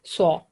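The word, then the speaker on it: ص: So its name is Sod, and when it has fatha, we say it Saw.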